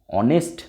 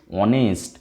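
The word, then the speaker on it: honest: তারপরে দেখো হি is dash অনেস্ট ম্যান, কী দিয়ে শুরু আছে? এইচ, তাহলে কি এ লিখব? না, যদি এ লিখি কেটে দেবে, তাহলে কি হবে? অনেস্ট, অনেস্ট ভাওয়েল সাউন্ড চলে আসছে, তাহলে অ্যান, অ্যান অনেস্ট।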